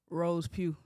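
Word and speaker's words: Rose Peau: It's French. It's RosePeau. Everybody say it like that. That's how I pronounce it. RosePeau. RosePeau. Like pure.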